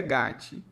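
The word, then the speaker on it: גת: Segundo um Samuel, 174 Golias era de Gate, cidade filisteia, cujo nome em hebraico se pronuncia Gatti.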